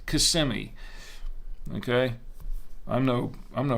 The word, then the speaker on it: Kissimmee: so I know and and Kissimmee no it's not kissing me it's Kissimmee okay I'm no I'm